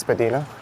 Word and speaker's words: Spadina: And depending on who you ask, Some people will argue that Spadina Road is also to be pronounced Spadina.